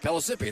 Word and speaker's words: Pellissippi: Is that how you pronounce it? Something like that. Pellissippi, I think. Pellissippi, thank you, yeah, Pellissippi.